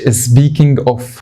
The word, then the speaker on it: speaking of: خلي بالك وانت بتنطقها ما تقولش speaking of. خلي بالك من حاجتين، البي انطقها بي، فيها هوا. بص بي، يعني لو جبت الميكروفون بي، What the fuck? في هوا كده طالع. اي ان جي اوف عند الان بس.